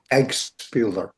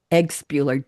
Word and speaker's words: Eggpeler: Pronounce your last name for me, darling. I didn't ask. Say it. Eggpeler. Eggpeler. Just the way it's spelled.